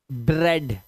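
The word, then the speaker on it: bread: कुछ वर्ड्स में इ ए का उच्चारण ए ही होता है। जैसे डेड अब इसको अब इसको आप वो नहीं पढ़ेंगे जो अभी पढ़ रहे थे आप। ठीक है? डेड हेड health health haven jealous jealous ब्रेड ब्रेड ए की आवाज।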